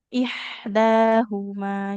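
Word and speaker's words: إحداهما: Nah, hati-hati di antara huruf H dengan H. Nah, ini harus beda sekali bunyinya.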